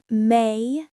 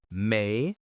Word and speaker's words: mayonnaise: May-uh-Nayz. The middle part is soft. May-uh, not may-o.